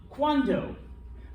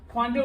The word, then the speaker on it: cuando: Cuando. Cuando means when. Okay, so cuando. Cuando is when. Cuanto. And here's where pronunciation becomes important because one's a D, one's a T.